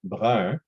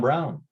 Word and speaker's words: Brun: I know my last name, Brun, is hard to pronounce. Brun in English is Brown. So quite often people will just say, Brown, because they can't pronounce Brun.